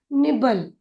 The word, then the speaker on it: nibble: इसीलिए वह हो जाएगा निब। और एल ई। एल ई को आप ल के रूप में पढ़ सकते हैं। जब कभी भी एल ई यह शब्द किसी शब्द के अंत में आता है तो हम उसका उच्चारण ल के रूप में करते हैं। इसीलिए NIBBLE होगा निबल। निबल।